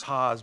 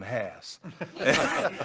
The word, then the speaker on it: Haas: It is, as Steve said, and by the way, Steve pronounces his name as Haas, but we all called him Haas.